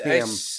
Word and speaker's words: Hem: It's pronounced ham.